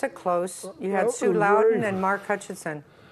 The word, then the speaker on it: Loudoun: what's how do you say it Sue Loudon Loudon yeah both of them on here on political